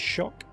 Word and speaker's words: Tsioque: I believe it is Tsioque. It says it rhymes with rock on the website, and I've heard it said.